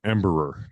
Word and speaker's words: Embraer: Yeah, Embraer. There you go. That's how you pronounce it.